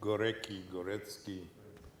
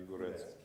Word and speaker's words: Górecki: Górecki, how do you pronounce in Italy Górecki? Górecki, perfect. Because in America everybody says Górecki.